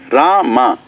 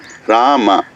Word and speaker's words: Rama: Hare, Krishna, Rama. It's not Ram. It's not Ram. Rama.